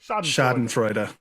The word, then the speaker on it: schadenfreude: freud come on baby is it fraud instead of no it's freedom it has to be don't blow me freuda it's duh at the end shot in freuda schadenfreude i was relatively close